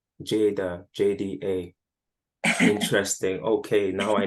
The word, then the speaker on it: Jada: because my name is Jada oh okay that's my first name and if you it's spelled j-a-d-a but if you just spell jda it still says Jada so that was my